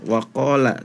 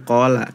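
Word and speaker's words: وَقَالَ: Terus berikutnya di surah Nuh ayat 26 awal ya, waqala. Tadi wawunya itu tidak dibaca, jadi qala.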